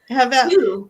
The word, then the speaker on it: Havel: Havel is B or V.